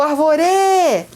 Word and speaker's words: árvore: agora hein o dono da casa se chama árvore vamos lá o árvore você não fala o árvore ou então o árvore árvore certo por um acaso também tem um acento agudo aí bem na sílaba tônica que é ar não é a